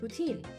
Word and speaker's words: poutine: It's pronounced two different ways, poutine and poutin. What is the proper way? I have no idea. Apparently, Quebecians call it poutin. I call it poutine because it sounds right. And I and I don't like how the other way is pronounced.